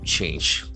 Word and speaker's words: change: C H A N G E. That a sound is very prominent.